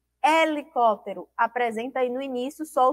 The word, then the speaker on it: helicóptero: Ó e F5 palavras Elas vão apresentar a inicial H E essa letra h não apresenta som certo e vamos aprender aí